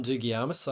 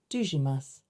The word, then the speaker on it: Dougiamas: Dougiamas. Dougiamas. Actually, no one knows how to say it because it's a Greek name that my dad brought to Australia and it got anglicised. And we were saying Dougiamas for a while.